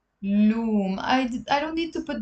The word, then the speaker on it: علوم: Okay, now in the plural, if you want to say sciences, we pronounce it علوم, علوم.